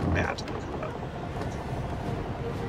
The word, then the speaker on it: Batacuda: Now, for those of you new to the game, these fish are called Batacuda. I'm not mispronouncing it. I really mean Batacuda.